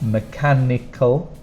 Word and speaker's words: mechanical: long so we have mechanical four different sounds Mech has a h in it again that we don't pronounce but we put in